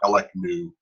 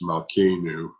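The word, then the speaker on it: מַלְכֵּנוּ: But Malkenu, not just Melech. It's not like Melechnu. It's Malkenu.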